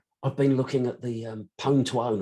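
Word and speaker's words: Pwn2Own: been looking at the pone to own and that is the correct way of pronouncing i don't care what anybody else is prone to own there's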